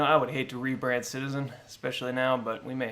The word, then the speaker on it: CTZN: sticky that's true but it's pronounced citizen so i don't know